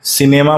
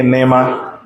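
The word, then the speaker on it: निमा: नेमा क्या बोलते हैं सिनेमा मत बोल देना बेटा सी साइलेंट है ना क्या बोलेंगे नेमा और ऊपर एक ढक्कन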